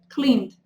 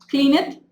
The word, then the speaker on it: cleaned: Entonces tenemos yell, sería yelled, y clean, cleaned. Try to remember, yelled and cleaned. So we don't pronounce the E. Yelled it? No, yelled. Clean it?